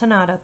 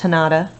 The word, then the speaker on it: Hanada: He said our name like Canada instead of the way it was supposed to be pronounced, with a soft A and the emphasis in the middle.